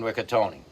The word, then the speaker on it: Ricottone: the name of John Ricatony. And I I f I found out recently that yes, you do pronounce the E at the end of his name.